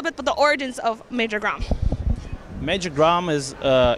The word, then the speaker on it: Major Grom: Can you tell us a little bit about the origins of Major Grom?